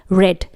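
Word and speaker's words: read: ध्यान रहे रीड रेड रेड यानी रीड की स्पेलिंग तीनों फॉर्म में एक जैसी होती है। लेकिन इसका प्रोनाउंसिएशन बदल जाता है। इसलिए यहां पर हम रीड की थर्ड फॉर्म को रेड पढ़ रहे हैं।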